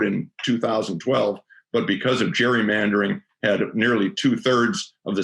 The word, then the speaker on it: gerrymandering: gerrymandering which is uh gerrymandering as it turns out i understand that uh elbridge gary's uh descendants claim that it's a hard g but i guess we'll we'll still keep calling it gerrymandering uh which is basically